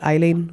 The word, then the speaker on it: Aileen: Well, it looks like it's spelled Aileen, but she's actually called Eileen Wuornos.